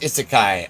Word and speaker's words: isekai: I um also I learned is it's pronounced isekai.